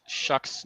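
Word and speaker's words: Shough: Like also why though is Shuck's name pronounced Shuck whenever it's spelled like that. What language does that come from? What Tyler Shock?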